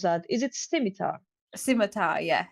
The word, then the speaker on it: scimitar: I have a how do you pronounce that? Is it scimitar?